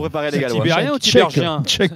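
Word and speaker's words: Tiberghien: Tibérien ou Tibergien? Chèque Tibérien.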